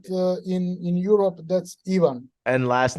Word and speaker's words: Ivan: know if you realize I've been calling you Ivan this whole time yeah I mean it's uh Ivan but uh in in Europe that's even and last name is uh pronounced is it